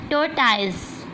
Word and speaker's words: Tortoise: Tortoise. Here O and E are silent letters.